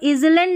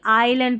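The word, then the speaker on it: island: Combination देखें तो यहाँ पर इजलैंड नहीं आइलैंड पढ़ेंगे।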